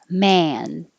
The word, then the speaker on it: man: sorry for the inconvenience man man this is the a so your jaw is very open and the lips are back man which is different